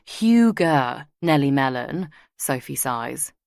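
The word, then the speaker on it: hygge: It's huger, pronounced huger, Nelly Melon, Sophie size.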